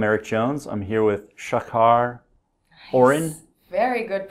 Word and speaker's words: Shachar Orren: I'm here with Shachar Orren. Very good pronunciation of my name.